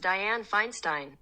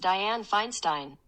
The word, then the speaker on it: Dianne Feinstein: Google how do you pronounce Dianne Feinstein that's pronounced Dianne Feinstein okay wait what if I do this it's like you just said it how do you pronounce Dianne Feinstein that's pronounced Dianne Feinstein oh okay nope all right that does sound